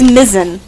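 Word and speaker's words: Mizzen: It's Mizen. M I Z Z E N. I think rhymes with mitten kind of.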